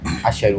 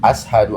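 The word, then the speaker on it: أشهد: Jadi perkara syahadat gua bacanya asyhadu alla. Yang benar? Ashadu alla.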